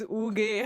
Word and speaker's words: UG: Yeah, because we say it the Finnish way. So if people don't find what is Uge, how do I spell this?